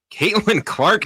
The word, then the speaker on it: Caitlin Clark: Caitlin Clark. Caitlin Clark is correct.